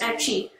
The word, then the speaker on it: Aceh: In 1873, the Dutch attacked the Sultanate of Aceh, pronounced Aceh, an independent kingdom on the Indonesian island of Sumatra, in order to take control of the region's lucrative black pepper industry.